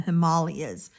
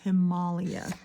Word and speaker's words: Himalaya: It's like the spirit of Yeti in the Hima- in the Himalayas. Let me try and unlearn to say it right. it's Himalia, not Himalaya.